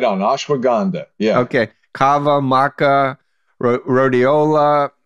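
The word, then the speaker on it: ashwagandha: to humanity ashwa ashwaganda Caba Maka did I mispronounce it tell me no no no you're right on ashwag gandha yeah okay Cava Maka Rola and on and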